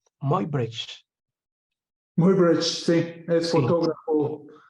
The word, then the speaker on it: Muybridge: aquí están las fotografías del famoso ¿cómo se pronuncia? Muybridge.